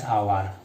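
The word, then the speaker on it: hour: এন বহে সাপোজ আমি এক্সাম্পল ল'ব পাৰোঁ ড্যাশ আৱাৰ আৱাৰ গতিকে ইয়াত আৱাৰৰ এইচৰ উচ্চাৰণ হোৱা নাই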